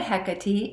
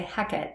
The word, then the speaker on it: Hecate: hecate some people say hecate and some people say heck it and shakes in the shakespeare play little known play called macbeth she's called hecat just singular like that no extra syllable but that particular scene